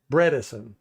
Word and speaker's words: Bredeson: Bredesen. So it's bread. Bredesen.